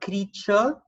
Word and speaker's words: creature: We've got creature, T-U-R-E, so ch.